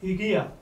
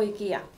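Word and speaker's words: οἰκία: Bueno, nosotros pronunciamos el diptongo omicron iota y, como lo hacen los griegos, vaya, desde hace muchísimos siglos. Aunque hay otros que lo pronuncian oikos o ikia.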